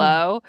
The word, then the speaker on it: Djablo: It is the word Djablo. Diablo, Yeah. but in the region that my dad is from in the Philippines, all the I's are J's.